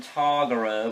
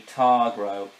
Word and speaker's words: Targro: Originally I called him Targaro, but now I realize it sounded like there was an extra A in it, so it's actually Targro.